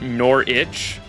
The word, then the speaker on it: Norwich: Worcestershire sauce Ward Norwich is also pronounced Norwich like like nor like neither or not nor and then like itch like I got an itch but I hate that